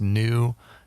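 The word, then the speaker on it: nu: other one is pronounced commonly pronounced new it's also pronounced nigh it depends on who you are but it's pronounced new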